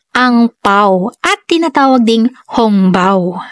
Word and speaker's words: hongbao: paw at tinatawag ding hongbao ang salitang angpao ay isang hokian language pronunciation para sa sa Red Pocket ang hongbao naman ay pronunciation para sa Red Pocket na salitang Mandarin at ang lcy naman